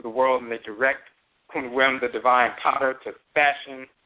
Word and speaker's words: Khnum: We pronounce it Kunwem because instead of Khnum, because in the Akan language, Okuk Kunwem means a potter.